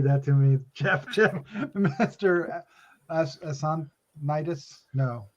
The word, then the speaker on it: Assonitis: Assonitis? No. How did you say it? You said it right. Assonitis. I said Assonitis. Assonitis. I just wanted to way to pronounce it that it didn't sound like ass.